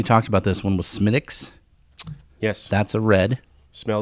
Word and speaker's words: Smithwick's: Patrick's Day mhm and we talked about this one with Schmitt ik's yes that's a red smell it's spelled Smithwick's yes right called Smith yes don't call it that if you had an